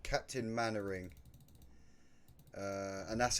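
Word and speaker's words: Mainwaring: there's a character in the show called Captain Manoring. Uh, and that's how you say it is Manoring, but it's spelled like this. So, it's spelled Captain Mainwearing, but you say it Captain Manoring.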